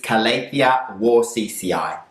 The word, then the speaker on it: Calathea warscewiczii: So this Calathea is called Calathea warscewiczii, and very difficult name, but I'm sure the pronunciation is Calathea warscewiczii.